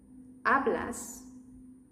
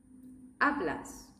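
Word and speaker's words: hablas: And remember, even if the sound I'm going to say is silent, they have an H. Next, see which ones you can write correctly. Word number one. Ablas. Ablas.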